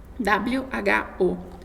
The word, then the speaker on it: Who: palavra ru aqui ó w h o ru você pronuncia como se não tivesse esse w ru significa quem uma